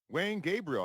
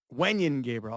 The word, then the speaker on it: Wenyen Gabriel: an old Laker on that team who that Wayne Gabriel I think it's pronounced uh Wayne no man that doesn't sound right to me that doesn't Wan Gabriel okay yeah yeah yeah yeah yeah welcome Sports